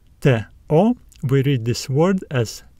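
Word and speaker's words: τό: and we also have the Yota subscript which is silent so these letters give us the uh sounds t o we read this word as to this is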